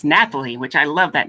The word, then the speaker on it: Nathalie: It's Nathalie, which I love that name, Nathalie.